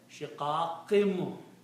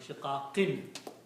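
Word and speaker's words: شقاق: So this noon sound will be pronounced as a meme. Shiqaqim, not shiqaqin. Shiqaqim.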